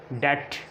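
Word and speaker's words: debt: और टी से पहले भी बी साइलेंट होता है, जैसे डेट, डाउट।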